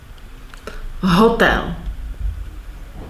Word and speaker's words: hotel: Hotel. The stress is on hotel, is not stressed.